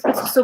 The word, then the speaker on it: كسكسو: But we pronounce it كسكسو, by the way.